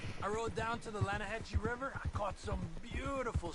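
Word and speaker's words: Lannahechee: the right here I rode down to the Lana Hetchy River I caught some beautiful steelhead trout you mean the Lana no no no the Lana hatch it runs right near here yeah but it's pronounced Lana Hass why is everything in English set differently than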